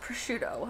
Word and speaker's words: prosciutto: How is prosciutto spelled? It's spelled with a C in it. Oh, okay. Yeah, prosciutto. Well, I can see how SC would make a sh sound.